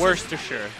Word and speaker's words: Worcestershire: How do you say it? How white do you want this to be? We're talking about Wonder Bread. It's called Winchester. Worcestershire.